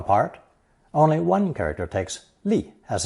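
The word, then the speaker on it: 立: Pronounced fourth tone, li, li.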